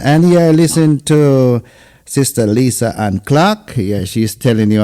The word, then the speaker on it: Lyssa-Ann: I'm here I'm me is your name pronounced Lisa l y SS a it's actually Lisa an Lisa an okay Lisa